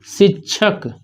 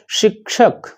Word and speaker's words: शिक्षक: इस तालव्य सा को बोल नहीं पाते। बोलना चाहिए शिक्षक और बोलते हैं शिक्षक, तो गड़बड़ ही हो जाता है।